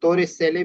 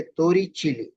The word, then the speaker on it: Torricelli: ये Italian word है. इसको नॉर्मली हम तोरे सेले भी प्रोनाउंस करते हैं, लेकिन जो करेक्ट प्रोनाउंसिएशन है वो है तोरी चीली.